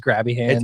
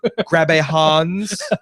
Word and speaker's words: Grabbe Hans: Really, your name is Grabby Hands? It's Grabbe. Grabbe Hans. Thank you very much. It's German.